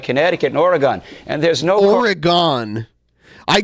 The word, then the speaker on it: Oregon: We don't say Oregon or Oregon. I hear most people, even the people that live there, just say Oregon. It's 2 syllables instead of 3.